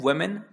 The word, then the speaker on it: women: औरत को हम कहते हैं वुमेन या फिर वुमेन। ठीक है, आप इसको वुमन भी पढ़ सकते हो और वुमेन भी पढ़ सकते हो, वैसे करेक्ट प्रोनाउंसिएशन इसका वुमेन होता है।